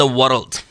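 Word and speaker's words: world: चुका हूँ पहले भी, बहुत सारे स्टूडेंट्स प्रोनाउंस करते हैं वर्ड वर्ड वर्ड वर्ड, इट्स वर्ल्ड वर्ल्ड वर्ल्ड, और आगे ये W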